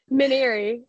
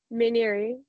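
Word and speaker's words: Mainieri: like a minute late to the call actually mineri mineri yeah so Paul mineri gamec baseball you know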